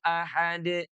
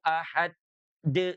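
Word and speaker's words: أحد: Qul huwallahu ahad. Jangan ditahan dulu. Qul huwallahu ahad de. Enggak usah ya. Pernah juga saya mendengar ya. Ada ada yang bacanya itu ahad de gitu ya.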